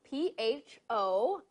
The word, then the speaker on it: pho: So it's spelled P-H-O, but it's pronounced pho.